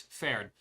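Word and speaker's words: Pferd: How to pronounce horse in German. Turns out it's fared.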